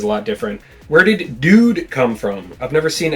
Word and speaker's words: dood: Where did dude come from? I've never seen anyone spell it that way. Well, it's a shortening of doodle. And it also sounds like dude, you know, d u d e obviously.